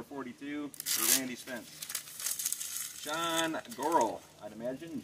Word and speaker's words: Goral: Sean Goral, I'd imagine. G-O-R-A-L, like coral, but with a G.